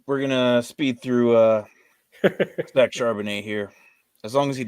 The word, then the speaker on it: Charbonnet: It's Zach Charbonnet. Charbonnet. Okay. French.